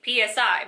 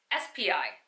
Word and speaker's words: SPI: It is extremely important for you to understand physics in order to pass the ARDMS SPI exam see I said it right I'm always saying PSI but it's SPI .